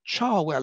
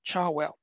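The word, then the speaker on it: Cherwell: Lindemann, who became Lord Charwell, at least that's how I think it's pronounced in Oxford, Charwell.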